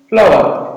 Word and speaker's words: flower: Next है FLOWER, फ्लावर।